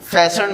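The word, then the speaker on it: fasten: फैशन मैंने word यहाँ पर बता दिया था, टी साइलेंट है, ई नहीं पढ़ना।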